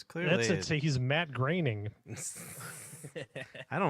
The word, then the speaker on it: Groening: He's Matt Groening. I don't like that name. It does not sound. I thought it was groaning. until you Yeah, said it's it. not spelled like graining, and that's how you say it, and it makes me mad.